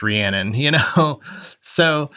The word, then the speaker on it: Rhiannon: titled Rhiannon, but you don't even know it's pronounced Rhiannon.